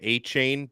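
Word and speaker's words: Achane: at Texas A M I always heard it said a chain but it was our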